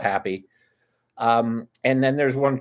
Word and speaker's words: HapPhi: we had a happy hap phi pronounced hapfy technically but i don't want to make somebody go hooked on phonics to deal with us so we call it happy um and then there's